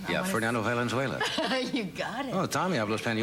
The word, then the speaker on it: Fernando Valenzuela: Yeah, Fernando Valenzuela.